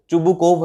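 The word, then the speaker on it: Chubukov: एंड व्हाई डिड he visit to चुबुकोव, मतलब चुबुकोव, चुबुकोव है इसका करेक्ट प्रोनाउंसिएशन।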